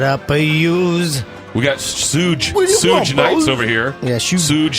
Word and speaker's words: Suge: that's pronounced. He's looking at me. Shug.